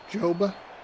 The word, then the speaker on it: Joba: Is there a job at Chamberlain? Is that a real thing, or did I just mishear that forever? That is right to the first baseman. It feels good to say it correctly and then go, no, that's wrong. Joba Chamberlain.